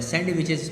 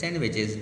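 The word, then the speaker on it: sandwiches: सैंडविचेस लोग कहते हैं बट इट्स सैंडविचेस, डी इज bit silent.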